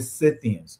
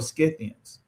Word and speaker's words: Scythians: So according to Eastern Bible Dictionary, Magog is also connected to the Scythians or Scythians. So who are the Scythians? And I'm saying it both ways because people pronounce it different ways.